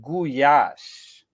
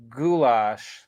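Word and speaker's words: gulyás: how we pronounce it actually we pronounce it guyas it's spelled g-o-l or g-u-l-y-a-s so it looks like it says goulash or gulas or whatever it's actually pronounced but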